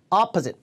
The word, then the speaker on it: opposite: 강세 앞에 opposite.